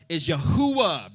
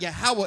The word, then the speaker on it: Yahuwah: His name is Yahuwah, brother. It's not Yahweh.